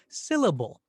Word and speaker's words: syllable: The word is syllable. So this little exercise teaches us that it's the first syllable in syllable that gets that extra accent or that extra stress, not syllable or syllable.